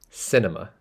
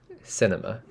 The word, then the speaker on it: cinema: going to the cinema cinema not C cinema cinema it's a uh sound it's like a schwar sound at the end uh cinema cinema cinema